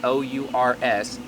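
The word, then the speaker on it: H'ours: how you say it because it's h apostrophe o u r s but it's supposed to be ours UHA Creole Smoke House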